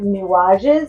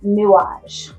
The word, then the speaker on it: Nuages: Um, I pronounced it new and I'm terrible because I took two years of French in high school and um I should know better. It's newage.